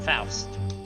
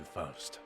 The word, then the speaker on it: Faust: Oh, so they went with the usual pronunciation, Faust.